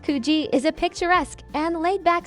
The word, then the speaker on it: Coogee: Located along Sydney's eastern coastline, Coogee Beach, pronounced Coogee, is a picturesque and laid-back seaside gem that blends natural beauty with a warm, community-oriented atmosphere.